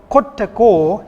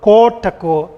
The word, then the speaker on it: kottako: And also kottako here, the same rule applies here. You can see O should be pronounced O, kottako, not kotako.